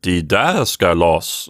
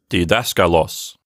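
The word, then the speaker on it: διδάσκαλος: They might have said didaskalos or something like that. But today, we just pronounce it with a stress accent.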